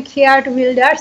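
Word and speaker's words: Geert Wilders: আপনি ইংরেজিতে বলছেন খেয়ার্ড উইল্ডার্স, আমি ডাচে বলি। আপনি কি বলেন? আপনি আপনার ইয়েটা কি ছিল? আমি আমরা বলি গ্রিট উইল্ডার্স, বাট আচ্ছা, এটা ইংরেজি উচ্চারণ।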